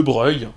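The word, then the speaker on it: Broglie: encore actuellement et oui on dit bien a priori de breuil et si vous vous demandez pourquoi et bien parce que c'est une graphie italienne prononcé à la française si aujourd'hui la partie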